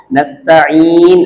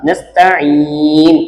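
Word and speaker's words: نستعين: பண்ணி இதை நம்ம உச்சரிக்கிறோம் நஸ்தின் அப்படின்னு சொல்லி அப்ப இந்த இடத்துலயும் சுக்குனு இங்கயும் சுக்குன் இந்த யாவையும் உச்சரிக்கணும் இந்த நூனையும் உச்சரிக்கணும் புரிஞ்சுச்சா நஸ்தின் அப்படின்னு சொல்லாம நஸ்தின் அப்படின்னு நீட்டி சொல்லணும் காரணம் இந்த யா இடையில இருக்கு புரிஞ்சுச்சா அடுத்து நம்ம என்னென்ன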